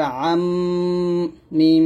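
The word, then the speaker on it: أُمَّا: তারপরে মিমের উপর থাকলে 2 ঠোঁট মিল করে গুন্নাটা আদায় করবেন। আইন মিম জবর আম, মিম জবর মা, আম্মা।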